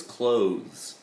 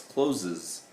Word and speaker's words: clothes: The other day it was clothes, clothes, right? And they want to say it with an ES sound at the end because that's the way it looks, closes.